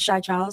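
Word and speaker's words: Xia Charles: My name is Shai Charles. It's spelled X I A C H A R L E S.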